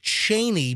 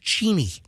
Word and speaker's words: Cheney: People say Dick Cheney, but actually it's pronounced Cheney. That's the way you really pronounce it.